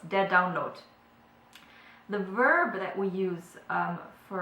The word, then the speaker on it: Download: the down download the download so um you can probably hear that I said the download with the T at the end uh which you wouldn't you wouldn't say it that way in English um this is again